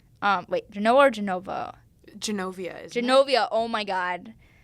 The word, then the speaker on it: Genovia: made-up country that the writers made up called Genoa. Genoa or Genova? Genovia, isn't Genovia, oh my God. I feel bad for mispronouncing it.